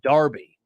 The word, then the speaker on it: Derby: they call City Town rivalries Derby but they pronounce it Darby really why do they